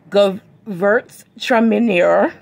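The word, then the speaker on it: Gewürztraminer: the grapes of awesome bail 2020 youtuber tremor pronounced okay we're going to repeat that one more time go verts tremendous tremendous okay come with a santa barbara and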